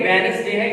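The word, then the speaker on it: Wednesday: जैसे वेडनेसडे, वेडनेस, इसको बच्चे वेडनेसडे बोलते हैं। बच्चों ये वेडनेसडे नहीं है, ब्रिटिश एक्सेंट के मुताबिक ये वेडनेसडे है, यहां पर डी साइलेंट है, वेडनेसडे।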